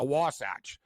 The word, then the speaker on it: Wasatch: uh a wasach and people don't really even know that's that's how you pronounce it a wasach and the Utah wasach